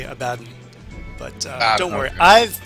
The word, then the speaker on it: Abaddon: And just a small aside, it's actually Abaddon. But don't worry, okay. I've pronounced it Abaddon for ages too, but it was pointed out to me and confirmed that it's actually Abaddon.